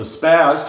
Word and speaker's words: SPAS: of this and the name of it so spazz 12 that's spelled with an s-s-p-a-s initially stood for special